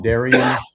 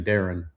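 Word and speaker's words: Darion: It's Everyone calls him Daren, or some people call him Darian, and it's actually Daren.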